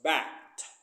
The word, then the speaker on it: backed: K is voiceless, so we pronounce backed.